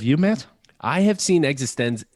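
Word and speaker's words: eXistenZ: know that's one like paprika that is actually pronounced incorrectly it's called is it existence yes okay in my defense okay and i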